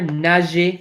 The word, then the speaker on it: nager: Anything that ends in an ER in French, like here, anything in ER that has an ER ending is pronounced E, right? So gargariser. We also saw earlier, nager, right?